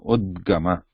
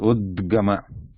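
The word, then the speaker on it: उद्गम: Because it is on the top, we only pronounce the consonant part without any vowel part. So udgama. But what comes at the bottom, it is pronounced with the vowel part. Vowel part is added. Vowel sound is added to the what is in the bottom.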